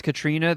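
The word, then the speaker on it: Caitríona: Katrina Bell I guess Katrina balf is the famous Katrina that spells it like catriona who the hell is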